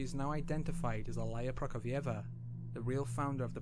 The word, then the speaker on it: Prokofieva: Alaya Prokofieva. Prokofieva. Yep, that's how you say it.